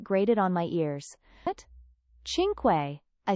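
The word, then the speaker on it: cinque: Chinquay, I said quietly, correcting him before I could stop myself. It's<unk> Chin Quay, not Sinquay. The sea is soft before an eye.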